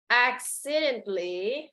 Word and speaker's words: accidentally: Accidentally, now the TA silent, okay? So accidentally, the A in between T and L silent, no accidentally, okay?